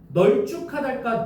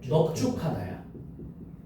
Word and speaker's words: 넙죽하다: 널쭉하달까 넙죽하달까? 넙죽하다야. 넙죽하다야. 넙죽하다. 자, 넙죽하다 이렇게 가야 됩니다.